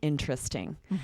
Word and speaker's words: interesting: Then I said, so far, it's really interesting. And this, again, looks like it should be 4 syllables, but we say it as 3.